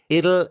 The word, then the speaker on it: it'll: And some people like our speaker here actually even pronounce the t a bit like a d.